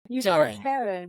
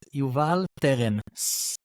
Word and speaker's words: Yuval: name teren Teran okay youan with the American accent yeah but that's not how you say it from birth if you if you want to hear it with the Hebrew accent it's Yuval yal yes nice so I